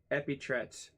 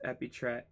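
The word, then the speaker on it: epitrite: And then the second epit.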